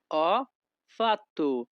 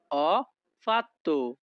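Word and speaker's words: ho fatto: Italian ভাষা হবে অপাত্য অ ফাত্তু Italian ভাষাতে এইচ ও এর উচ্চারণ হবে অ যখনই আমরা ইতালিয়ান ভাষায় কাউকে বলতে চাইবো আমি করেছি তখন আমাদেরকে বলতে হবে অফাত্য আমাদের পরবর্তী বাক্যটি আছে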